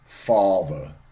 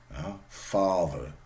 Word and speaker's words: father: exist in standard German just compare these two okay farter standard German father father English ah ah ah it's a different thought sound sorry and it even has a different symbol yeah worthy va will these this sort of tail yeah so Fatih a father okay Fatih and father so native German speakers